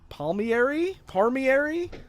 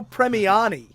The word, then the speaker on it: Premiani: team that created them, Arnold Drake and Bruno Parmigiani? Parmesan? Don't ask me how to pronounce his name. Gene Parmesan, how you doing? Bruno Premiani.